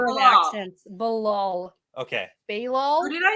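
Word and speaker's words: Be'lal: Balal? Who did I say? I don't know. Who did you Oh, say? I just pronounced it differently. Is it Bilal? Bilal, Bilal? yeah. Yeah, okay. Yeah. BE apostrophe LAL.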